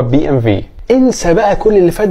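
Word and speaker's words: BMW: بي ام في طبعا ده علشان زي ما اتفقنا الدبليو في الالماني بتتنطق في ولكن لو انت عايز تقولها بي ام دبليو فما فيش مشكله ده نطق صحيح برضو بس النطق بتاع البلد بتاعتها هو بي ام في انسى بقى كل اللي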